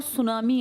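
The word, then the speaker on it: tsunami: इसके आसपास बहुत ज्यादा ज्वालामुखी विस्फोट और सुनामी आते हैं। सुनामी किस भाषा का शब्द है? हां। इसमें टी साइलेंट है।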